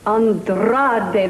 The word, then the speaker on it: Andrade: Andrade, that's right. You must roll your R's when you say it all the time now.